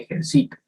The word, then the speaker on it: ejercito: También tenemos las palabras llanas o graves. Estas son las que tienen el acento en la penúltima sílaba. El ejemplo sería, yo siempre me ejercito.